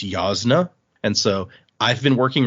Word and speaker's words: Jasna: There's a person uh whose name is is I've always said Jasna because it begins with a J, but the J is actually supposed to make like a ya sound. So, it's a it's yasna.